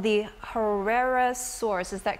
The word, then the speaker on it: Cryolophosaurus: We're going to bring up one which is called the Cryolophosaurus. Is that correct? Beautiful pronunciation.